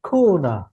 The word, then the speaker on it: corner: হুম হুম, উচ্চারণটা করবে কি, খুনা। আমরা বলি কোনা, কর্নার, বলে কি খু। কর্নার, মানে আপনি ভাবেন কি, কর্নার। কি বললো এটা, খুনা।